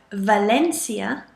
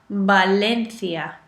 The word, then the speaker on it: Valencia: is the letter v whenever you see a letter v you must in Mainland Spain pronounce it as a b so Valencia as we know it is actually Valencia Valencia so there are